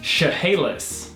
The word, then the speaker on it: Chehalis: squid next three two one what this is pronounced Chehalis how do you pronounce this word guys give